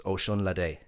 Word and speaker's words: Osunlade: So think of it like Ocean Latte, but it's Osunlade.